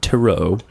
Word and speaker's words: tarot: uh a movie on Taro which I now know is one way of saying it uh I'm still going to say tarot yeah say terot yeah um I was